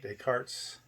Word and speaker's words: Descartes: that we exist or is it descartes that's how you say his name i think therefore i